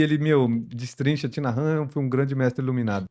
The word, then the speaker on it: Thich Nhat Hanh: Hanh, tem um livro do monge vietnamita que o nome dele se escreve Thich Nhat Hanh, e aí se fala Thich Nhat Hanh, né?